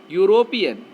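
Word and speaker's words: European: यूरोपियन, ये आपका क्या है, वावेल लेटर है, लेकिन इसके साउंड को देखो आप, यू आ रहा है, यूरोपियन, इसके पहले ए का प्रयोग होगा।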